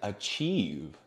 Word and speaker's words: achieve: also have words like achieve when you finally do something or when you have a great achievement that is IE and it sounds e e not I so let's continue I